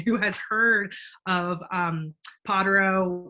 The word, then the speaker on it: Pottero: has heard of um pottero which is how we pronounce it in appalachia not not easy um